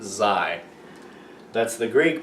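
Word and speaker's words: xi: It is Z-I, that's pronounced Zai.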